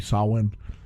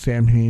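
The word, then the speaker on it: Samhain: it's not Sam he I know it's supposed to be sawn but in the show it's Sam hay because I don't know cuz people didn't know how to pronounce it back then and you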